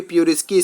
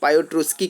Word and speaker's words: Piotroski: में बात करेंगे, उसके प्यूरोस्की स्कोर के बारे में बात करेंगे। अगर आपने नहीं जानते हो कि आखिर प्यूरोस्की स्कोर होता क्या है, कई लोग इसे पायोट्रोस्की का भी प्रोनाउंसिएशन करते हैं, तो वो डिफरेंट नामों